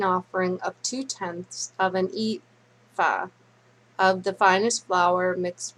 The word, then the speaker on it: ephah: It's spelled EPHAH. Ephah.